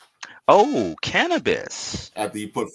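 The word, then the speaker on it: Canibus: Oh, Cannabis. After you put 4, 3, 2, 1. Cannabis. That was my favorite battle. Can I Bus? If you say his name slowly, it's actually Can I Bus.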